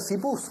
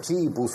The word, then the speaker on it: CIPUS: ¿Se pronuncia CIPUS? CIPUS. Bien. Porque es con C, ¿viste? Podía ser Chipus o algo así.